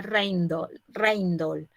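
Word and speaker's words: Rijndael: ganador, fue un algoritmo Rigendael. El algoritmo se llamaba así, creo que en belga se pronuncia Reindol.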